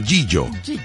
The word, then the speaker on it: Gigio: G-I-G-I-O. Proveedora de Alimentos Gigio. Pero se pronuncia Gillo.